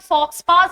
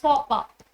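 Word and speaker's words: faux pas: word so similar way इट्स नॉट फोक्सपास इट्स फोकपास इट्स a French word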